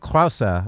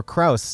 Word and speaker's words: Krause: This is Pinky Gonzalez, and with us today is Susanne Krause, or Krause, if you're a United States listener and have a hard time with the pronunciation.